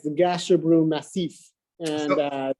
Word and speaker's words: Gasherbrum: Now, this painting, I'm not going to try to pronounce the name of it. Gasherbrum.